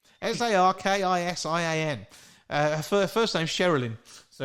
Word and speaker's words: Sarkisian: It's Sarkisian. Sarkisian. Her first name's Sherilyn, so it's not just share. She's got lots of syllables and everything.